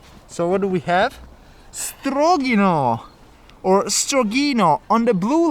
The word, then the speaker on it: Strogino: one two strong an apologies for the mispronunciation of this place according to the loud speaker on the train it's actually called strogino and not strong you know as i